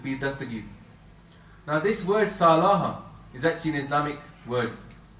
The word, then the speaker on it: Salah: That this is one of the 5 pillars of Islam is Salah or Salat, some people pronounce it as a T.